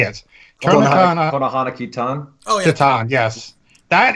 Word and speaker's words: Konohana Kitan: So I'm also watching Korona Kitten or whatever. How do you say it? Konohana Kitan.